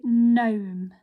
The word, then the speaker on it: gnome: this g is silent so we don't say it we say gnome okay let's look at